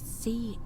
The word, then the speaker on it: Charon: It was Charon, as in Charon, the ferryman of the dead.